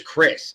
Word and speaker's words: Criss: His last name is spelled Criss. That's definitely Chris in my eyes.